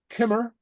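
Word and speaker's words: Cymru: okay pronunciation okay so C is pronounced like a k and so here's some words Kimmer oh okay yeah so so say after me Kimmer Kimmer okay KK K uhuh okay Celtic Celtic Celtic okay so it's not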